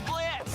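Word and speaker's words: Blitzø: The name's Blitz. The O is silent, and I'll be your assassin today.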